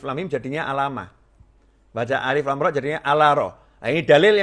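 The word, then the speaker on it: الر: Maka Allah tidak menyuruh Nabi Muhammad SAW membacanya alama atau alima, tetapi alif, lam, mim, atau alif, lam, ro di dalam surat Yusuf.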